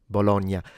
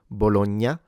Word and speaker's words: Bologna: Bologna. The strength of the GN depends once again on your region. In standard should be kept into a mid strength. So Bologna, you don't necessarily need to make it too light.